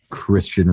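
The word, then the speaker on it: Cristhian: And the pronunciation isn't like the phonetic pronunciation thing. It's just Christian Rodriguez.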